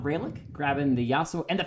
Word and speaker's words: Ralyk: Ralyk, the A is pronounced like apple, so it's Ralyk.